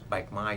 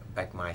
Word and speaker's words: Bạch Mai: street name was Bạch Mai Street. It's a long stretch of street, a long street. How do you spell that? B-A-C-H, Bạch, and Mai, M-A-I, Bạch Mai Street, yes.